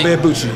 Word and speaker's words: Ibeabuchi: Ike Ibeabuchi.